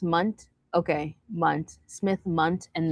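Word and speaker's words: Mundt: Mandela effect is super, it's pronounced Munt.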